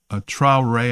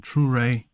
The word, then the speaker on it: Traoré: And this is the same territory where Abraham Traoré, I think that's how you say his name, Traoré, is the prime minister of Burkina Faso, I think it is.